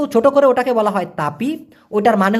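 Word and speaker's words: tepi: আরেকটা কথা কিন্তু মালয়েশিয়ান ভাষায় আছে সেটা হচ্ছে তপি টি ই পি আই উচ্চারণটা হলো তয়ে কার পয়রশ্মি তপি এই তেপি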